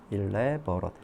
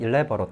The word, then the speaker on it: elaborate: elaborate.